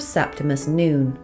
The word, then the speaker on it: Septimus Noone: When I first saw it, I read it as Septimus No One and was surprised when Jonathan pronounced it as Septimus Noon.